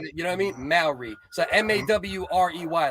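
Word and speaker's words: Māori: Maori. So M-A-W-R-E-Y, like Maori. Yeah, right? Like that. That's how you pronounce it. Yeah. Okay. Maori.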